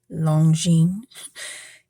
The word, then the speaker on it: Longines: Value Village for $12.99 and it is a Lonine. I had to Google how to pronounce that um, a fair amount. And um, Lineen is fairly accurate how you pronounce it.